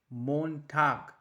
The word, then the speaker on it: Montag: Now the first day of the week, that is Monday, which is pronounced like Montag, Montag, that means Monday.